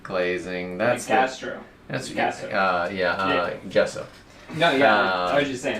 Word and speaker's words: gesso: That's Gesso.